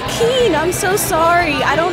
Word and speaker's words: Kean: way it's spelled. I say Kean.